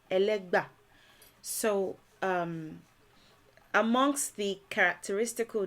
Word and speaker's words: Ẹlẹ́gbà: um first of all elega is simply the mispronunciation of elegba so um amongst the